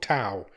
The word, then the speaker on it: Tau: so this week we watched a film called to which is spelled t Au it is from 2018 it